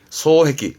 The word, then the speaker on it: 双璧: 발음은 소해기, 음은 해기입니다.